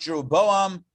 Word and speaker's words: Jeroboam: So I think in the English it's pronounced Jeroboam, Ahab, and Manasseh. However, it's Yeravam, Achav, and Manasseh in the Hebrew.